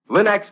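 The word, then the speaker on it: Linx: You'll find all 3 great Linex home brighteners, Linex Self-Polishing Wax, Linex Cream Polish, and Linex Clear Gloss Varnish at your nearest hardware, paint, or department store.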